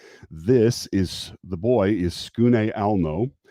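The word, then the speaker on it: Tsukune: This is the boy is Skune Alno. His name is spelled like Tskune, but it's not.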